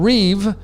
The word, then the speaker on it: Reeve: it's e lon musk elon reeve like christopher reeve who is superman so e remember the